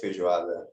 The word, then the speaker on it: feijoada: happy seeing this being represented rafael please do pronounce this for all of us yes i really like feijoada yes feijoada um what is that oh all